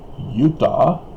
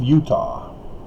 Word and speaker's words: Utah: And you might also, as Utah Mormons, Utah, the T and the D are phonetically the same. King of Utah.